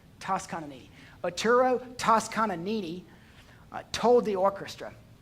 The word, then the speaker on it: Toscanini: It is said that after a rousing performance of Beethoven's Ninth Symphony, that a famous Italian conductor, Arturo Toscanini, that's how you say it, Toscanini.